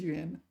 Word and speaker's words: 援: There's three of them. There's Juan. It could be Juan of the pronunciations. Juan Yuan or Huan Yuan, or what's the other one? Nuan. It's got the phonetic component. It is Yuan.